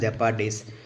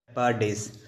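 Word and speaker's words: jeopardize: அப்போ யூஸ் பண்ண வேர்டாங்க ஜெப்பர்டைஸ். ஸோ இது இப்படி தான் உச்சரிக்கணும். வாங்க இந்த வேர்டை பார்ப்போம். ஜெப்பர்டைஸ்.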